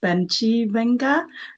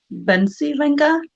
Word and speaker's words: Bencivenga: mainstream words let's say I like how your father pronounced Benji venga then Ben silenga so um I'm trying